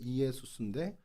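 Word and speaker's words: Ἰησοῦς: 뜻을 갖고 있는데 이게 헬라 발음으로 하면 어떻게 되죠 예 이에수스 이에수스 정확히 끊어 읽으면 이에수스 예예 예수라는 이름과 여호수아는이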